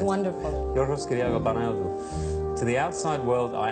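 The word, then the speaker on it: Yorgos Kyriacos Panayiotou: My name is Yorgos Kyriago Panayotou. That's really how it's said. It's wonderful. Yorgos Kyriago Panayotou.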